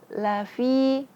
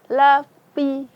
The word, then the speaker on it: lafi: Lafi, fi, ingat fi itu makhrajnya ujung lidah bertemu dengan perut bibir bawah. Jadi bacanya lafi. Lafi, jangan sampai lapi. Kebanyakan ada yang baca lapi atau lafi.